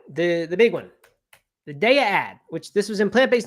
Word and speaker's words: Daiya: you wonder why I'm saying de instead of Dia like a normal person it's because in the ad the voiceover says DEA and we we did know I had heard